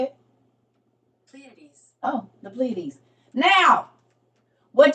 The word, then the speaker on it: Pleiades: The Pleiades? That's how you say it? Pleiades.